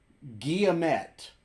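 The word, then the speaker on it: Guillemette: I don't need the proper spelling more so phonetically Works guilla met okay I met got it that's pretty good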